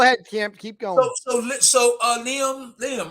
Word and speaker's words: Liam: Lim Smith. Lim Smith. Yeah, you say Colin. Lim Smith. I'm sorry, Liam. I think that's how you say it.